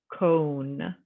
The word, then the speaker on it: cone: N is not inv so this word says cone because that o and that silent e at the end now for grammar this